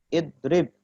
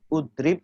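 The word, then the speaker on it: اضرب: Idrib. Kenapa juga ada idrib tidak udrib atau adrib? Ya. Karena huruf ketiganya kasroh.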